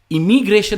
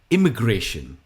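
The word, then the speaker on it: immigration: इमिग्रेशन हम नहीं कहते, हम कहते हैं इमिग्रेशन। नॉट ए, इमिग्रेशन, इमिग्रेशन। Next है लिम्बो।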